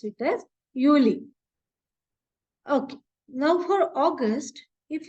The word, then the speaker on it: Juli: July it is juli okay J they will pronounce it as Uli okay now for August if you see the